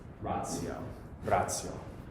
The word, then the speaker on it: ratio: But we also have T, I, and whatever, especially T, I, and then followed by another vowel. So this would be like ratio, like that. Yeah, so it produces a. It's like adding an S between the T and the I, right? Yeah, a TS sound, a ts, like that.